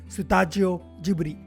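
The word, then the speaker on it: スタジオジブリ: Japanese pronunciation Kabushiki-kaisha Sutajio Jiburi has revolutionized the nature of world building, reinventing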